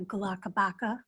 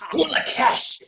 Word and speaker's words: Gulakesh: that's a great idea, Galakabaka. It's Gulakesh. If you're going to say my name, say it correctly.